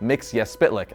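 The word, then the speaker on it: Mxyzptlk: more than the imp mix yes spit lick as that's where he's from and yes that is the proper pronunciation of his name don't believe me here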